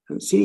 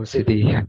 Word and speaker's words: Siddhi: Yeah, so I must be pronouncing her name wrong. But so CD, Yeah. Acha, oh, Siddhi. Okay.